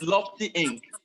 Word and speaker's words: Lofty Inc: me actually penalize you for mispronouncing our company name. It's Lofty Inc. So the company is called Lofty Inc.